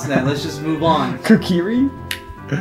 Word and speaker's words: Kakariko: I don't even know how to pronounce that. Let's just move on. Kakiri? Kakakuri? Kakariko.